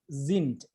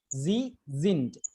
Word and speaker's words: sind: This S is pronounced Zind. Zind. Kind of humming sound is there, right?